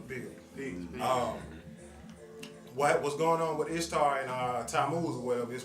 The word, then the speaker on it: Ishtar: And basically what it is in Babylon, there was a goddess called Ishtar, I-S-H-T-A-R. Most pronounce it like Easter also.